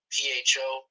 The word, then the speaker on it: pho: they call it slow p-h-o rhymes with the number four okay but they call it pho yeah okay okay chicken